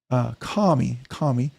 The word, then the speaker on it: Cammy: Joshua Templeton, my macaw, Cammy, pronounced Kami, looks forward to your live streams.